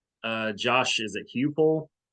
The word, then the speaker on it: Heupel: Is it Hupel? How do you say his last name? Heupel.